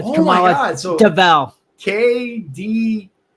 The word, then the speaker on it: Kamala: And Biden and Camilla don't even like each other either. Oh, Kamala Harris. Yeah, I don't even know how you say her name anymore. I should have said Kamala, but yes.